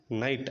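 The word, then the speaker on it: knight: KNIJHT నైట్ అంటే వీరుడు శూరుడు అని అర్థం.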